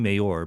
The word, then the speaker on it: Mayor: Adrienne Mayer, I keep saying Mayor, but she says her name is pronounced like the political official.